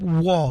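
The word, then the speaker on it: Wohl: Jacob Wall, W-O-H-L, he could not be more correct.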